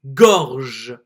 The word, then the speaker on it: gorge: So here you will see that the E is almost silent and that only the letter before the E will be pronounced.